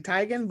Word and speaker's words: Teigen: So Miss Chrissy, her pronunciation of her last name is actually Teigen, but she just be answering the Teigen because she ain't got time to be correcting y'all.